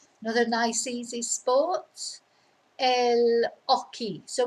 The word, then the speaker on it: hockey: nice easy sport el aki so we just don't pronounce the h eloki so of course